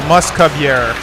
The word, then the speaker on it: Mousque-Bieres: to pronounce our name it is a play on the word musketeer in French mascota and it's pronounced you skip yeah so moose cub and air with a why so Muscovy air is the closest way